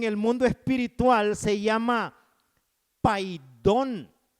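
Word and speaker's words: paidion: De 6 a 12 en el mundo espiritual se llama paidón, que se escribe P-A-I-D-I-O-N, pero se pronuncia paidón.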